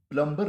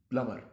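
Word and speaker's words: plumber: प्लमर यानी बी को आपको निकालना पड़ेगा, प्लम्बर नहीं, प्लमर। अगला लफ्ज़ जो बहुत ज़्यादा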